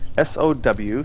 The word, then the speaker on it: SOW: Okay, another person, Lori Holden, says, interesting, we've always pronounced S-O-W, Spirit of the Wolf, like sow, like sowing fields.